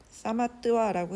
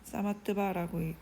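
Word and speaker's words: samatva: 요기는, 요가 수행자, 요가하는 사람은 완전한 평등, 사마뜨와라고 했는데 이렇게 읽어도 되는데 낯설죠. 사마뜨바라고 읽습니다. 의 정신을 모방해야 한다.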